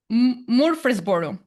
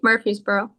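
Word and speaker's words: Murphysboro: Morris Boro. How can I pronounce this correctly? Morphy'sboro. That's right. Murphy'sboro.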